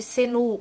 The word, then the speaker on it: Xenu: Para mim ficou um pouco complicado, porque ele é escrito Xenu, mas as pessoas chamam de Senu, outras chamam de Xenu. Então eu vou chamar ele de Xenu, porque é como se escreve, mas se estiver errado, deixa aqui para mim no comentário.